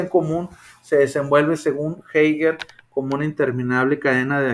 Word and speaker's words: Heidegger: Bueno, la existencia en común se desenvuelve, según Heidegger, como una interminable cadena de acciones y reacciones.